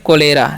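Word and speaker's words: cholera: होने वाला है तो इसमें पढ़ते हैं कोलेरा यहां पर सी क करते हैं ठीक है कोलेरा ठीक है और इसे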